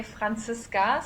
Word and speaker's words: Franziska: you so much so my name is Francisca in German pronunciation I would say Francisca so it's a little bit more harsh but um yeah I'm